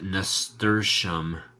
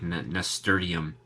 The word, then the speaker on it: nasturtium: Angie hasn't already collected corrected you nasturtium pronounced nasturtium it flows so much easier than how you are pronouncing it well yeah I used to refer to it as the nasty plant because it looks like Nestor diem so I know that Nestor diem is wrong Canadian trucker gal I